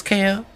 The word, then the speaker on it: Kao: should be pretty obvious also the developers said that like they pronounced it as ko but cow is also fine all right so that's